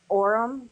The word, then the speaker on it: Orrum: Orem, but it's spelled different. ORRUM.